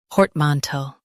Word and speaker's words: portmanteau: Both US and UK have the same pronunciation of this word, portmanteau. Now read the syllables shown on the screen naturally. Port, man, toe, portmanteau. Emphasize port and keep man smooth.